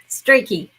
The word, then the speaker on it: Strachey: You said it right the first time. Strachey.